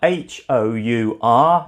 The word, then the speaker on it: hour: a word like our h-o-u-r it begins with a consonant letter but it's pronounced like a vowel sound hour five four three